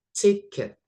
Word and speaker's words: ticket: The next ada ticket. Bacanya kayak pakai i gitu ya.